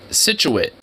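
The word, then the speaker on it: Scituate: supposed to be nice it's Massachusetts that's that's really situate it just sounds like you're cutting yourself off from same situation it's like hey we got a little bit of a situ a situate it's like I thought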